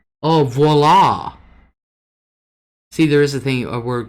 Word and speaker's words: voila: Connie said, it's like me saying viola. Literally, I learned it was walla phonetically. Oh, voila!